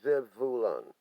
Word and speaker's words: Zebulun: is lies zebulun okay the hebrew word zebulon pronounced zev vulan means a resident and